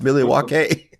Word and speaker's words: Milwaukee: Like, I thought he was going to have some conversation with you about the history of Milwaukee, which is, it's pronounced Milwaukee.